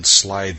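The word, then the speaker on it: slithy: that has often been asked me how to pronounce slyy toes the eye in slyy is long as in Wy and Toes is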